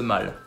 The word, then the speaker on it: Mall: à londres et voilà c'est le mal oui comme comores mal est là pour le coup